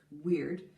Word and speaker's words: Weyward: And so the women of this line, the Weyward line, which in Old English would be pronounced weird, the first female in